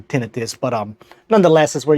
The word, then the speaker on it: tinnitus: then also something about tenius or tentis although I believe the correct pronunciation is actually tentis but um nonetheless is